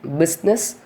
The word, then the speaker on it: business: 2 words, that is business, suit. Here in business, the spelling is BUSINESS, but we are not pronouncing the letter I, just we are saying business.